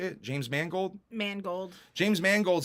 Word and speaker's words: Mangold: James Manigold, Mangold? I think that's how you say it. James Mangold? Mangold.